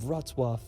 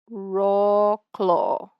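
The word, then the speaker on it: Wrocław: the beautiful city of rwwa I mean it's such a trucky pronunciation now located in Western Poland about about a three hours drive I would have read that as raw Claw from krao rzw is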